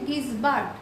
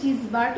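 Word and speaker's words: Gisbert: এই উক্তিটা করেছেন হচ্ছে গিসবার্ট গিসবার্ট বলে আবার কেউ কেউ কিন্তু এটাকে জিজবার্ট উচ্চারণ করে কারণ ইংলিশ টার্মটা হচ্ছে জে আই এস বি আর টি যে যেরকম ভাবে উচ্চারণ করে এবং এই লাইনটা আবার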